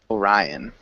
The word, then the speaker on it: Orion: with your pronunciation here maybe Orion Orion yeah Orion um so kind of like the constellation we have Orion Orion's belt that's his name praise new